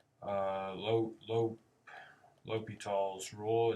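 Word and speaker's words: L'Hôpital: a section on something called uh low low l'hopital's rule it's pronounced L for Lope and then more like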